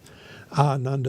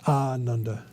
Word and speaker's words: Ananda: It's important to pronounce it ananda which means joyous or to enjoy. If we say a nanda with a short a that actually means joyless, which is definitely not what we want to say.